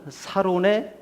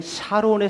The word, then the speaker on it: 사론: 아가서 2장 1절에 보면 나는 사론의 수선화요. 이전에 개역 개정판이 나오기 전에 개역 성경에는 샤론의 수선화라고 되어져 있었어요. 그런데 이 샤론도 원어로 따져 들어가서 보니까 샤라는 발음으로 이스라엘은 하지 않고 있더라. 사로 하고 있더라.